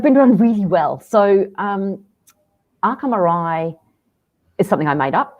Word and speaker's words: Arca Morai: The name of the business, pronunciation-wise, is Arca Morai.